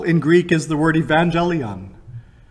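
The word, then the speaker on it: εὐαγγέλιον: The word for gospel in Greek is the word evangelion. I'm not quite pronouncing it properly, but that's the way we traditionally pronounce it.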